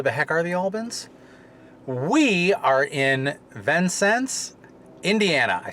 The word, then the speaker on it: Vincennes: the heck are the Albans we are in Venn sense Indiana I said it right and we are